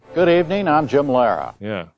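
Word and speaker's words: Lehrer: that uh that pronunciation it's the way he pronounces his own last name good evening I'm Jim Lara yeah it's great Jim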